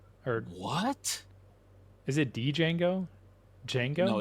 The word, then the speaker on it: Django: Django? No, it's Django. The D silent.